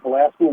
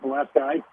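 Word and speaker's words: Pulaski: Let's let's respect the the war hero and call him Chasmir Pilaski, not Chasmir Palasi.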